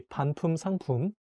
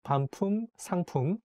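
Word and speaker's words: 반품상품: returned you can say pan pum sangpoon i think it's not easy to read because it has the same word repeated twice poom poom like pam poom sangpun um i think again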